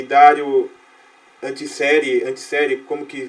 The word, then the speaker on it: Antiseri: O grande precursor da discussão da alma do homem foi Sócrates, do qual Giovanni Reale e Dario Antiseri, como que pronuncia?